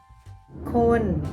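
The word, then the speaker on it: คน: foreign means people corn is pronounced with a flat tone you can tell your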